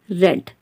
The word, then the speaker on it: read: spellings are same but when we are using the form of the verb read in past and past participle then we pronounce it as red clear so when you